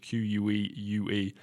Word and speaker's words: queue: in queue in English, Q-U-E-U-E. And Camille writes here in the audiobook notes, watch out, I hear too many pronunciation mistakes on this. Le queue is pronounced exactly like que, as in Q-U-E.